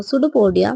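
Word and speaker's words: pseudopodia: तो amoeba surrounds foods using सूडोपोडिया P silent है and forms of food वैकुल digestive juices act inside the walk and nutrients are observe in the body.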